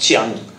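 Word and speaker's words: Jiang: Now, Kiang is actually pronounced Chiang.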